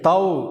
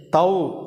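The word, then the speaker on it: תו: இந்த எழுத்து இந்த எழுத்தை தவ் அப்படின்னு உச்சரிக்கிறோம்.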